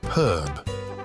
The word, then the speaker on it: herb: Consider words like herb, where Americans drop the H, or schedule, pronounced with a esk sound in American English and a esh sound in British English.